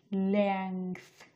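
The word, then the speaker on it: length: pronounce করতাম লেন্থ লেন্থ এটা হচ্ছে লেন্থ না এটা উচ্চারণ হচ্ছে লেংথ লেংথ তো আমি সারা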